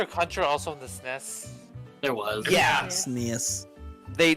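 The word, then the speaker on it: SNES: SN but now you that's how the acronym was is pronounced the SN yeah yeah yeah but like no I know that everyone just say yeah I'm so used to everyone saying s NES like there is there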